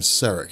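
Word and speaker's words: Saarek: actually a guy named saric at least i think that's how you pronounce his name it's s-a-a-r-e-k regardless uh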